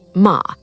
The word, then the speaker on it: ma: The third concept is ma, pronounced ma, written with a single character that depicts a gate with the light of the moon shining through it.